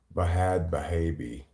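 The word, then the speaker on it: Bhad Bhabie: he tells every story bahad bahabi yes if she's gonna spell it with an H I'm gonna I'm G to respect her decision and pronounce it with an AG she was in a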